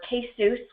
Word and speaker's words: KCEWS: So we are the center, or KCEWS, which rhymes with Dr. Seuss or Couscous.